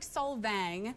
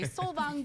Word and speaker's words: Solvang: It's spelled like Solvang, yeah, but I'm contractually obligated to say Solvang because I work for Norwegians, and it has been in the home.